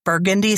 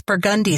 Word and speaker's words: Burgundy: You know, it's not Burgundy Street. It's Burgundy Street.